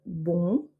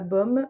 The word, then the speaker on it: bom: Là, on aura le bon et bonche, quand c'est au pluriel. Bon, bonche. Pour nous, c'est comme bonbon. C'est pas bom, c'est bon.